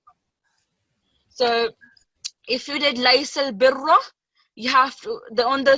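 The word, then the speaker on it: لَيْسَ الْبِرَّ: So whenever you have this, the raw that has fatha or dhamma, you have to pronounce it with thick sound. Okay, it's not pronounced as laysal birra. That would not be the correct one. So it would be laysal birra. So with a bit of thickness, sorry, and broad sound.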